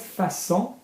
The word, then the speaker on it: façon: Mais que cette façon, soft C because of the cedilla. Yeah, can you see the little tail accent under the C?